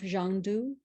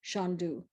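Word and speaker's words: Shangdu: So this land of bliss, this Shangri-La, is also known to the West as Xanadu, which is the westernized pronunciation of Zhangdu, as marked on this map.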